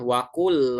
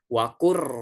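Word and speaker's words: وَقُلْ رَبِّ: Ini bacanya bukan wakul Rabbi zidni, tapi wakur Rabbi zidni, wakur Rabbi ya.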